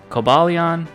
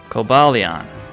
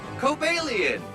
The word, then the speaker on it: Cobalion: Okay, so here are some legendaries that I have mispronounced: Cobalion, Terrakion, and Virizion. But, this is how they actually say them. Cobalion Cobalion Terrakion Terrakion Virizion Virizion And so, yeah, that's